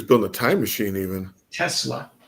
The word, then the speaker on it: Tesla: what is he talking about I know Nia Telsa Issa test Telsa it's wait a minut his name is pronounced it's not Tel isn't a Tesla Tes it's Tesla yeah he was very smart very smart guy